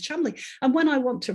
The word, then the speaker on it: Cholmondeley: Or Chumley, right? That word Cholmondeley that it looks like is actually pronounced Chumley.